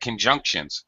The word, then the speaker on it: conjunctions: con all right conjunct we're looking at conjunctions con junk notice both a u sound but the junk is a middle syllable stress word second syllable stress conjuncts K and shuns sounds identical sound that's because it'sah sound can junk you're using the actual full pronunciation you're you're stressing it you're saying it louder you're saying it with a higher pitch and shun shun again